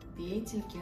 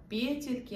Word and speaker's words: петельки: Меня зовут, и добро пожаловать на мой канал «Петельки радости». Конечно, девочки, правильно произносите слово «петельки», а не «петельки», но мне так нравятся петельки.